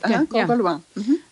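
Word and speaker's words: Corgoloin: Corgauloin.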